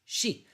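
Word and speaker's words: 四: In Japan, for example, the number 4, the numeral 4 is pronounced shi, which is also the word for death.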